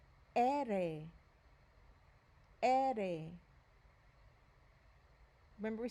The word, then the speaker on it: ere: The letter R is pronounced ere, ere.